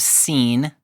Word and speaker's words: Sin: In Hebrew it's the wilderness of scene. It's related to the name of the mountain Sinai, which in Hebrew is Sai.